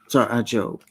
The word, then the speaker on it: Job: The book of Job. Job. I always wondered why they didn't spell it J-O-B-E.